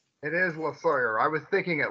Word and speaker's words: Losawyer: that how do you say your last name la sawyer it is la sawyer i was thinking it like vaguely like the